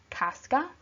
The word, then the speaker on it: Casca: their names the sound so first we have Casca then Dec is Brutus okay not to be